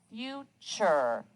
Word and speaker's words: future: in the word pressure future you hear that ch sound but it's spelled t-u-r-e butcher measure pleasure mixture